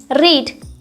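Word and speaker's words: read: को क्या बोलते हैं, रीड। ठीक है, यहाँ पर रीड फर्स्ट फॉर्म है, सेकंड फॉर्म और थर्ड फॉर्म इसकी सेम होती है, इसे हम रेड पढ़ते हैं, स्पेलिंग सेम होती है।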